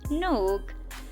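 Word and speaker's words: Nuuk: इसके कैपिटल की तो इसका नाम नक समटाइम इसको मतलब कुछ लोग इसको न्यूक भी प्रोनाउंस करते हैं बट इट्स नक अगर बात की जाए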